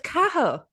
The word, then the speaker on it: Cahill: I've been saying No, it's Cahill.